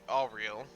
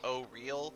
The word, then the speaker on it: Auril: It's Auriel, or Uriel. Ariel. Ariel, sorry. Auril, pronounced O-Real, or Auriel. I like Auriel, Okay.